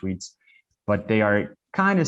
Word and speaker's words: REITs: real estate investment trusts they are called reits or they are pronounced reads but they are kind